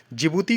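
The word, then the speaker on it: Djibouti: है that is अ जिबूती code the conduct देखिए डी इसमें साइलेंट होता है तो जिबूती इसको पढ़ते हैं तो जिबूती कोड ऑफ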